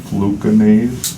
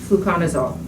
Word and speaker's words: fluconazole: prescription to something called fluconaze fluconazole okay yes i guess i kind of butchered that it's okay for